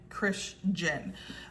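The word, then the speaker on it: Krisjen: And it's spelled K R I S J E N. Christian.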